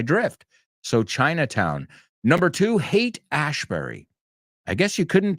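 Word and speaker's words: Haight: that aspect the Psychedelic years without talking about hate ashberry and yeah the pronunciation is oio right so C is I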